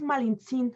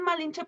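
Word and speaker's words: Malintzin: es lo único malo el nombre real es malintzín ajá de hecho le decían malinche porque no podían pronunciar su nombre entonces era malen sin el nombre este supuestamente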